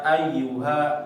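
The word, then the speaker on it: أيها: Di ayat pertama ya, kita lihat di sini ada ya-nya bertasydid. Ya ai ya. Jangan lupa bacaan tasydidnya ditekan ya. Jangan ya ayyuha ayyuha. Nah, kurang ditekannya. Harus ditekan betul-betul. Ayyuha.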